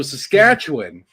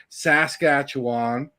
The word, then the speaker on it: Saskatchewan: So Saskatchewan is how I've been pronouncing it my entire life, which is almost 50 years.